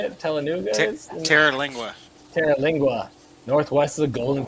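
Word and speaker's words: Terlingua: Oh, we got a comment about where Telenuga. How do you say it? Telenuga is? Terra-Lingua.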